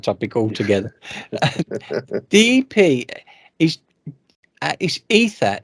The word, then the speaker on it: Aether: The EP is Ether. Is it Ether or Aether? Because the way it's It's spelled. ether. Yeah, it's a Yeah, silent A.